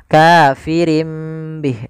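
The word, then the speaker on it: كَافِرٍ بِهِ: Awalnya kafirin bih karena dia ganti surah nunnya. Kafirim bih diganti dengan huruf mim. Kemudian ketika kita melafalkan ini kafirim bih itu sebenarnya ada dua cara baca. Yang pertama dengan itbq, yang kedua dengan sufada furjah. Tapi kita mengambil yang itbaq saja yaitu bibir kita tertutup dengan rapat. Kafirim bih.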